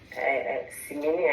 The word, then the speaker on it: Simini: Simini, I hope I pronounced your name well. Over to you. Hi everybody, thank you Josephine, you pronounced perfectly.